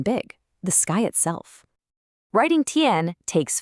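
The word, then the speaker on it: 天: Our next character is tiān.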